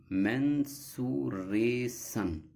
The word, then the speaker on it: mensuration: Now, the pronunciation according to the Merriam-Webster dictionary, mensuration. Mensuration.